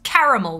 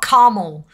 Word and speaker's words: caramel: like you you you like pronounce the a the there's a second a make sure you pronounce it because it's caramel not caramel there's a word caramel